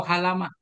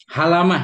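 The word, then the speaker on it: حلمة: Dabit itu halmaah, hulmah, halamah, halamah bacanya alhalamah. Halamah ya. Ya, halamah bacanya. puting susu ujung payudara.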